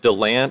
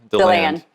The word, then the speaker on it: DeLand: okay great you're in deland how do you say it the land or delon the land yeah so if somebody comes to town and they say deland you know they're from out of town i've actually never heard